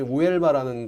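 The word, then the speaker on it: Huelva: 여기가 포르투갈이랑 그 접경지 우엘바라는 곳에 있는데 H가 묵음이에요.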